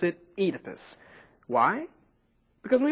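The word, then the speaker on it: Oedipus: First off, you may have heard this guy's name pronounced Edipus, but we pronounce it Edypus. Why? Because we like it that way. Actually, it's because this pronunciation is more true to the Greek original.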